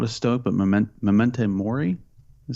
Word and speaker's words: memento mori: it properly because i'm not a stoke but memento mori i said think how it's pronounced which is basically remember that you will